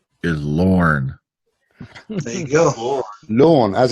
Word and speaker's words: Lorne: And by the way, trivia, Bruce Campbell's middle name is Lorne. There you go. Lorne, as in W-A-L-A-N-N. No, spelled the same as Lauren Green. L-O-R-N-E. That one. Lauren.